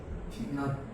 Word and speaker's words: 낮: 전부 발음 어떻게 돼? 낫. 낫. 낫으로 발음합니다.